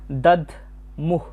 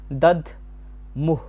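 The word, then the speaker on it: দধ্মুঃ: এরপর আছে দাদ মুহ। এখানে দ এর উচ্চারণটা অর্ধেক হবে। দদ মুহ শব্দের শেষে বিসর্গ রয়েছে।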